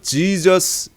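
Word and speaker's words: Jesus: 이렇게 바뀌었고 예수 수가 영어 로 바뀌면서 제이가 원래 헬러 에서 응가가 없었는데 영어 로 넘어오면서 j 라는 발음이 나면서 지져스 이렇게 발음이 됐구요 이것이 한문으로 넘어오고 우리말로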